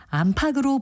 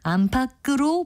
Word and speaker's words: 안팎: 다른 예로 나이가 50 전으로 보인다고 할때 50 안팎으로 보인다라고 예사 소리로 발음하는 경우가 많이 있는데요 이때는 안팎으로 보인다라고 하는 것이 정확한 발음입니다 바른말 고운말 아나운서